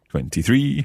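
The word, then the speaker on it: ventitré: When we're writing that one, we need to put an accent on the E sound at the end because it's got the stress on it.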